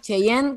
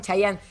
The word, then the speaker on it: Chayanne: ¿Cómo se dice? ¿Cheyenne? ¿Qué? ¿Está mal? Chayanne. ¿Chayanne se dice, no? ¿Chayanne? Para mí se dice Chayanne de acá a la China, pero me encantó bueno, el Chayanne.